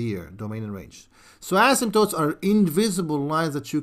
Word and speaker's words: asymptotes: to by word uh and the word is ASM tootes what what did he just say what did